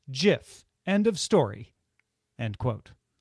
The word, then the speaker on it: GIF: in 2013 he told the new york times the oxford english dictionary accepts both pronunciations they are wrong it is a soft g pronounced jiff end of story end